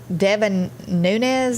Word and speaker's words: Devin Nunes: going to open i do know that uh devin nunes is how you say his name he resigned